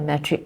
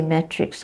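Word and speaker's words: matric: or something like that metric is a m a t r i c card some people say Matrix cut becomes Matrix instead of metric okay so these are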